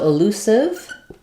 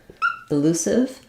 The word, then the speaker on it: elusive: the final syllable um and then the E is silent so elusive elusive um watch out that